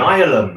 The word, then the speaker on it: Nihilum: Is that how you pronounce it? Nihilum, actually. Nihilum.